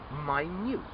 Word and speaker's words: minute: start the first one m-i-n-u-t-e okay this can either be a minute 60 seconds or you could also say my newt very small so there are 60